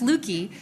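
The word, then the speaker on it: Löki: I also have the person who, if you want to know why I have umlauts on my name, and my name is pronounced Lukey, my father, former Nome City Council member and Nome School Board member, Lou Tobin.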